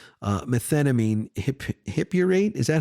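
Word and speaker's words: methenamine hippurate: I also take a new drug called uh methnamine hiphurrate. Is that how you pronounce it?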